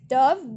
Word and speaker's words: dove: Now third, a pigeon that like bird, its names rhyme with love. जो एक pigeon जैसा bird होता है, and its rhymes with love. This is a bird. It is called as dove, DOVE, dove.